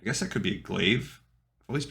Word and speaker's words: glaive: a thousand episodes um I'm just realizing that I'm dumb it's glaive now I've got to retrain Decades of mispronunciation glaive okay you learned it with